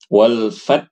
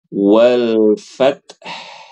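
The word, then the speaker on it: والفتح: Ibu Sandra Hm nah ini h-nya enggak ada walfat saja hanya enggak ada Harusnya walfth nah ini sudah bagus tapi belum jelas haknya walfath walfth nah lagi Nah sudah bagus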